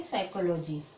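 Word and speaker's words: psychology: तो मैंने अभी बताया पी के बाद यस आए या फिर एन आए, ठीक है, यस आए या फिर एन आए तो पी है वो साइलेंट रहती, पी का उच्चारण नहीं करते हैं, ठीक है। तो पी का उच्चारण नहीं करेंगे, यहाँ पे पढ़ेंगे साइकोलॉजी। क्या होगा?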